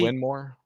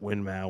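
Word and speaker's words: Winmau: and even they were both ways it's technically win more it's technically win more it's technically when more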